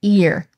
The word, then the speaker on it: ir: yod and r, or we pronounce these today as ear, which I know for